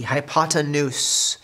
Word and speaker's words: hypotenuse: sounds like hippopotamus but it is called the hypotenuse and that is spelled h y p 0 t e in u.s e hypotenuse as how you say it not hippopotamus so the hypotenuse before